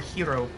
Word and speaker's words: gyro: behind me I have a lamb gyro or hero as some pronounce it I will munch on